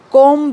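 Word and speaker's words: comb: note करने के लिए जब भी एम के बाद बी आए तो वो साइलेंट होता है ये कोम नहीं है इट इज कॉम कॉम Hari Hari means जल्दी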